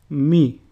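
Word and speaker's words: Μι: Mi, which is pronounced mu, and a sample word is moro, which means baby.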